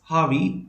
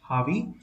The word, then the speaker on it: Javi: It's Harvey, J-A-V-I, but generally it's pronounced as H, Harvey.